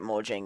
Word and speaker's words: Mojang: I don't even care if it's Swedish. It's Mojang. I pronounce it the technical pronunciation it's supposed to have, so that's what I use.